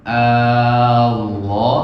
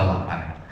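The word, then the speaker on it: الله: Allah itu tidak boleh satu harokat. Kalau satu harokat berarti pendek. Nah, yang benar adalah lohnya itu dua harokat panjang.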